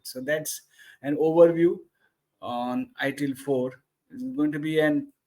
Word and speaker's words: ITIL 4: It is pronounced as ITIL 4. It is not pronounced as ITIL V4.